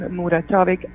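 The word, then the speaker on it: Muratović: Yeah, it's a little bit it's It's a Serbian name, so it has all these lots of consonants and it's kind of silent letters. then last name Muratovic, Muratovic.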